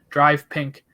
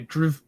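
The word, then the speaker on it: DRV PNK: game that's in miami drive pink stadium or actually drew stadium as it's spelled uh tomorrow on my birthday happy birthday yeah 30.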